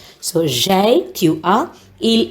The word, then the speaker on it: j'ai: That's why it is J apostrophe and we say it or pronounce it as j'ai.